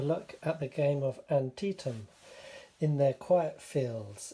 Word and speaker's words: Antietam: like to say that being English I would have read this as anti Tom I hope I don't pronounce it that way during this game I've learned that it's Antietam and if I do